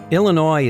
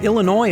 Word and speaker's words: Illinois: because we Lincoln believe Illinois is worth saving. And here's why. By the way, the S is silent, and there's an ongoing debate about what the word Illinois means.